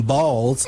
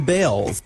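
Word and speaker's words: Baals: After all, the family did change the pronunciation of their last name from Balls to Bells.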